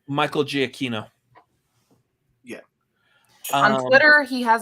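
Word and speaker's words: Giacchino: the composer of this movie's last name michael g aquino yeah on twitter he has his pronunciation and it's a giakino i mean possibly i've heard i've heard that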